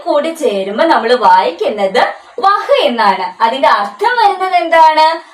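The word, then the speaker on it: वह: നീ എന്നാണ് ഇനി അടുത്ത ഒരു വാക്ക് നമുക്ക് നോക്കിയാലോ വഹ് ഇത് ഏതൊക്കെ അക്ഷരങ്ങളാണ് വായും വായും ഹായും വായും ഹായും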